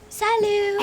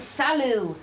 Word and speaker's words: salut: Salut. Excellent. Madame. Salut. Excellent. Très bien. Salut that has a silent T now.